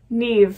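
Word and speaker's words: Niamh: We are looking at how to pronounce Neve. Neve, yes.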